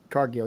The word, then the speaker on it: Cargill: Cargill is that how you say her name Cargill yes and punk for Dolph Ziggler and Edge